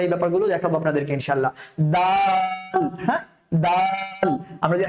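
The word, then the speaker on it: دال: বাচ্চা যুক্ত হয় ওই কাঁচা বাচ্চাগুলো কিন্তু বলবে ডাল ডাল এভাবে করে উচ্চারণ করবে হ্যাঁ তো আমরা যারা বড় আছি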